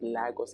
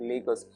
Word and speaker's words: Lagos: The pronunciation is Lagos and not Lagos, as so many Nigerians might want to pronounce right now.